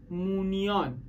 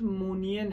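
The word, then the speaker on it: Moniyan: در سرزمین‌های جنوبی امپراتوری مونیان اما تلفظ درستش مونین هست حالا من دیگه سخته اینطوری گفتم میگه مونیان ولی مونین هست میگن تاریکی عمیقی این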